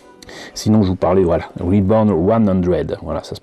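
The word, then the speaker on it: Re:100: Sinon, je vous parlais, voilà, Reborn 100, voilà, ça se prononce comme ça, avec le Gun EZ.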